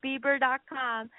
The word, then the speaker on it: Beber: but you know what after Justin Bieber came on the scene then all of a sudden everyone knew how to pronounce my name and then they'd go